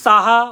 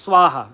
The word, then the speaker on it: স্বাহা: দেখি যজ্ঞ করে ওম সাহা ওম সাহা তো সাহা তো মরেই যাবে সবাই মজার ছলে বলছি কিন্তু সাহা বলবেন না অরিজিনাল উচ্চারণটা করবেন স্বাহা কেমন স্বাহা হ্যাঁ হ্যাঁ আর স্নানের জলে